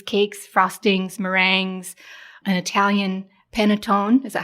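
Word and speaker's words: panettone: collection there's Cookies Cakes frostings mering an Italian penatone is that how you say it that bread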